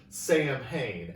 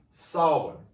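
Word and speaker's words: Samhain: it spelled which is spelled to look like sam hayne s-a-m-h-a-i-n but it's pronounced solomon and it was the end of summer festival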